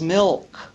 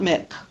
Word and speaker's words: milk: you're mispronouncing that word you need to pronounce the L in that LK cluster as milk not mck so we don't reward